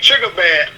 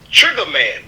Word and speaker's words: Triggaman: And I looked at the one and it said Triggaman, but it's spelled Triggerman.